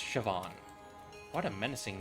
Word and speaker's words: Siobhan: Shoan. Siobhan. It's pronounced Siobhan.